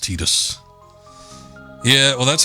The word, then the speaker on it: Tidus: And the English commercial did say it was pronounced Tidus.